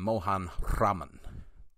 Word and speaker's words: Mohan Raman: TI chuchin loak and Mohan Raman you're not supposed to roll your RS on that one man fair enough uh